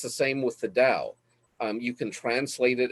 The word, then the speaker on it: Tao: the translations of the dao t-a-o and it's pronounced more with a d like dao but the dao it's